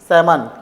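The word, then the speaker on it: salmon: यहाँ L silent है। ठीक है, क्या हो जाएगा? ये आमंड, कॉम, पॉम, बॉम और ये सैमन। क्या हो जाएगा? ये सैमन हो जाएगा।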